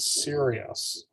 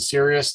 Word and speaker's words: Sirius: brightest star in the entire night sky called sirius but it's spelled s-i-r-i-u-s so what i'd like to do